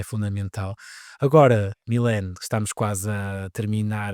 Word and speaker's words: Milene: não pronunciassem totalmente errado, porque o meu nome escrito, Milen, eles em inglês automaticamente eles leem com My. Então não tinha gente, my malin é esquisito, gente.